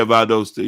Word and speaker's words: Valdosta: o s right there okay here it is Valdosta is that how it pronounce yeah Valdosta yeah that's s scary it is scary Whoa